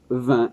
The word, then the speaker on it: vingt: avec le QU, 4, 20, attention, le T à la fin. Alors, le G, on n'entend pas, c'est difficile, il faut savoir.